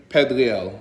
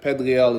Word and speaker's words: Pedrial: get into this uh my name is pedrial or you could say pedril whatever pedril is how it's pronounced uh so a little